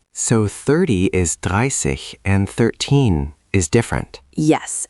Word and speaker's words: dreißig: Note the spelling with the special character beta and the pronunciation. It's roughly dreißig. So 30 is dreißig and 13 is different.